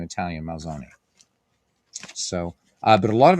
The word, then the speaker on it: Malzone: It is, so in Italian, there are no silent letters. It is Malzone, not Malzone. And in Americanized Italian, you would say Malzone, but it's Malzone. Malzone. So the E is pronounced like an A.